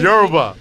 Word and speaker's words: Yoruba: It's Yoruba. I don't know what it is. So like That's how they- you would pronounce it.